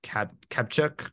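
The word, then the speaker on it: Kaptchuk: So there's a researcher, Ted, I think his last name is pronounced Kapchuk at Harvard, who has spent his career studying the placebo effect.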